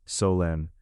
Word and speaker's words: Solène: You are going to step inside the shoes of Solène. Solène is a French origin name, pronounced Solène, a 26-year-old woman living in a small foggy city near the ocean.